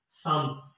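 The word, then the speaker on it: 삼: और थ्री को हम कहते हैं सम। तो इसकी साउंड होगी सम। और फोर को कहते हैं हम सा। सी के आगे आ लगा दे तो ये बनता है सा। इल ई सम सा।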